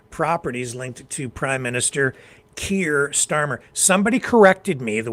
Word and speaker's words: Keir: I know I say it wrong. It just comes out that way. I say care because it's my Canusa accent, my Canada USA accent, having grown up so close to the American border.